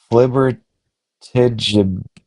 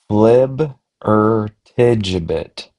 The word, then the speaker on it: flibbertigibbet: Flibbertigibbet. Flib-er-tigibbet. Like flip, but B flib, a quick unstressed or sounds like T jib it.